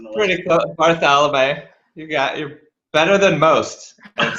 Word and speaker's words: Bartholomae: We are here with video engineer Bartholomae. Did I pronounce that correctly? Because I always have a trouble pronouncing the last Pretty close. Bartholomae.